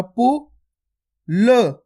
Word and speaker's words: पुल: दोस्तों मैं आपको हर क्लास में ये चीज बताता हूं, अपन जब भी लास्ट वाला अक्षर को पढ़ते हैं उसका उच्चारण अपन आधा करते हैं।